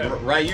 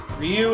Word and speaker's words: Ryu: that's what they said about rayu it's like rayu is like not it's Ryu or or it's Ryu Ryu is the correct pronunciation but they say it you in Japan